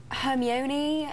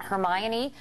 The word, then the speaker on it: Hermione: I know I've had so many different interpretations like oh um herion uh hermy Juan but now I guess now I guess because of the movie everyone knows how to say her name and Hermione like Emma Watson